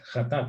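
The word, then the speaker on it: חטאת: Hatat se escribe con Het, Tet, Aleph y Taf.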